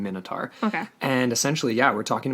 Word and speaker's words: Minotaur: myth of the Minotaur some pronounce it my note are because of its link to King - we're going Minotaur and essentially yeah we're